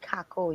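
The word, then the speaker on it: cacao: It's yeah, not Coco? No, I pronounce it Cacoa, you know? That's our Dominican way of pronouncing it.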